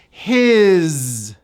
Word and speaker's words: his: His, believe it or not, that S is pronounced as a Z. His.